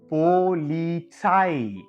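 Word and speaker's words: Polizei: இன்னொரு வீடியோல சொல்லிருந்தேன்.ஏ வும் இயும் சேர்ந்து வரும்பொழுது ஒரு வார்த்தையில அத ஐன்னு சொல்லணும்னு சொல்லிருந்தேன். இல்லையா அப்ப இத நம்ம எப்படி எழுதிக்கலாம்? ஐன்னு எழுதிக்கலாம். என்னென்ன இருக்கு? இப், ஓ, இல், இட்ஸ், ஐ இப்படி இருக்கு. இப்ப இது எல்லாத்தையும் சேர்த்து எப்படி எழுதலாம்? போலீசாய் அப்படின்னு சொல்லலாம்.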